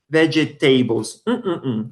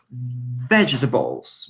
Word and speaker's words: vegetables: Listen to the pronunciation. We never say vegetables. We say vegetables.